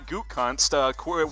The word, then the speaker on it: Gutekunst: Here's the quote from Brian Gutekunst.